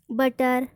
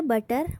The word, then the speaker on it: butter: तो यहाँ पर भी हम बूटर नहीं बोलेंगे, बटर बोलते हैं। बटर की स्पेलिंग सभी को पता होती, BUTTER बटर। तो हम उसको बूटर नहीं पढ़ते हैं, बटर पढ़ते हैं।